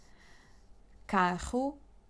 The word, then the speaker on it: carro: Because some words just change the meaning if you pronounce one or two R's. Carro, caro.